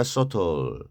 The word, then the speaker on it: subtle: 여기 B가 발음이 안 돼요. 서브틀이 아니라 subtle, 미묘한, 그리고 complicate, 복잡하게 만들다인데